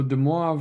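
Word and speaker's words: De Moivre: call deav theem so de moav was actually a French mathematician I know it doesn't really sound like it's spelled U but the French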